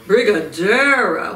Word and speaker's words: Brigadeiro: Brigadeiro.